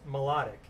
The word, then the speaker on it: Mládek: don't normally think Stout so pronounced melodic MEA LOD I see it's that's how it's pronounced interesting spell it that